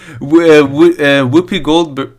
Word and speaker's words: Whoopi Goldberg: Whoopi Goldberg.